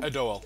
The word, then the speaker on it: Adoel: Adoel. Adoel? Adoel. We're Adoel. taking you to Adoel. Oh no. Okay, yeah, that's fair. What's wrong with Adoel? Well, actually, Man, it's fine. It's Adoel.